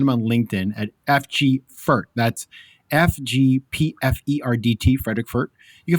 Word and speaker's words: Pferdt: on LinkedIn at FG Pferdt. That's FGPFERDT, Frederik Pferdt. You can find him on Instagram at Frederik G Pferdt. Again, that's PFERDT on the last name. Pronounced in German, Pferd. It means horse.